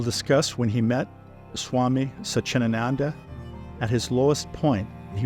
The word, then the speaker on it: Satchidananda: I know you have a spiritual side yourself with your relationship with Swami Satchidananda. Is that the correct pronunciation? Close, Satchidananda. Satchidananda.